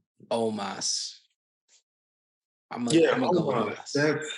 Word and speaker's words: Omos: Almost. Strowman is. Who? Yeah, I know. I'm gonna say Omos. I'm gonna go Omos. That's his name. Why do I keep saying almost?